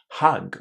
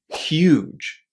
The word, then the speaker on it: huge: have with this word is that they say hug or hug or something like that. But nobody will understand you if you say it this way. You need to say huge.